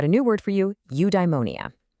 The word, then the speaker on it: eudaimonia: Okay, I've got a new word for you, eudaimonia. It's pronounced you-die-mo-nee-ah.